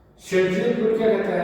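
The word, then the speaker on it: Zaitsev: जिसको बोलते हैं क्या, शेडजेप एल्कीन, शेडजेप या जेडसेव इसको बोलते हैं, ZSEIV। ठीक है, ये भी बोल देते हैं, ये प्रोनाउंस है नाम जेडसेवी, लेकिन प्रोनाउंसिएशन में शेडजेप जैसा ये प्रोनाउंस किया जाता है।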